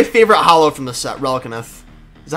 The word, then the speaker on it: Relicanth: This is my favorite holo from the set, Relicanth. Is that how you say it? Relicanth? Relicanth? Relicanth, yeah.